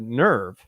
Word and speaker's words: NERV: going to take it are you going to say Nerf because I've heard some dubs that said Nerf and other people that said nerve well the Japanese pronounced it nerve so do what the